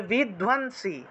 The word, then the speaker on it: বিধ্বংসী: মধুকৈটভ বিধ্বংসী, বিধ্বন ধয়ের সাথে বফলা আছে, বফলা থাকলে ধুয়ো উচ্চারণ হবে। এই যে ধয়ের সাথে যে বফলা আছে, বফলা থাকলে রস্যকার অন্তস্থ চলে আসে, তাহলে ধুয়ো উচ্চারণটা আসবে, ধুয়ো। এই যে এটার উচ্চারণটা হবে ধুয়ো।